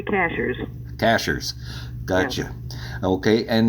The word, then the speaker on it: Cashiers: It's spelled like a cashier at the store, but you don't pronounce it that way? The natives say cashers.